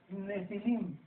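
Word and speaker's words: Nephilim: Esta palabra gigantes en el versículo 4, si lo quieres apuntar, es la palabra hebrea Nepilim, con N de Nancy, PH, Nepilim, se pronuncia Nefilim, como si fuera F.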